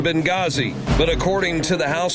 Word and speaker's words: Benghazi: coming up tonight night the H is silent in Benghazi but according to the